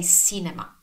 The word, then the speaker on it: cinema: But it's not, because we never ever pronounce the C as S, as S. So this is one of the two cases where the C is soft.